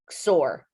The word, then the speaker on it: XOR: with a cross and the way they pronounce that is sore an X with the ore so exclusive or sore